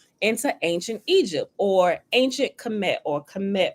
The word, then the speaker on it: Kemet: ancient Egypt or ancient Kemet, or some people not pronounce it Kamata, right?